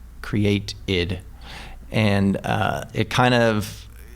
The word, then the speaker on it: createid: But it's it's spelled C R E A T E I D. Create IID.